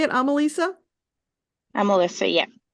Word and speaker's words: Amelissa: Amelissa, yeah. Amelissa.